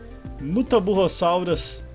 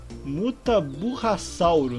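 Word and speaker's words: Mutaburrassauro: Os Mutaburrossauros. Ou como é que é? Mutaburrasauro, na verdade. É assim que se pronuncia. Eita, eu pronunciei errado.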